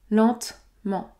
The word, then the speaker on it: lentement: avez noté également que je ne prononce pas le e au milieu je n'ai pas dit